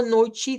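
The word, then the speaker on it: noite: especial y es que la t en el portugués de Brasil se pronuncia como que fuese una CH. Esto que ven acá, este es el fonema de la ch. Entonces suena como chi. C chi chi.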